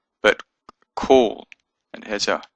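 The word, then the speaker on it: כל: word it means all and it's it's not pronounced call but cool it has a o sound even though it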